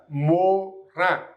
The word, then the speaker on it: Morin: So as I told you yesterday also in my previous video that IN always sounds like un, Morin.